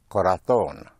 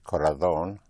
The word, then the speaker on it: corazón: With heart is corazón, C-O-R-A-Z or Z-O-N. In Castilian Spanish, corazón, otherwise corazón.